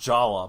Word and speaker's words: Jaller: I think his name is actually still pronounced Jala, based on Mask of Light.